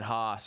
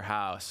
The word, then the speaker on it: Haus: food chain and then hos or house it's pronounced kind of both ways is the exact opposite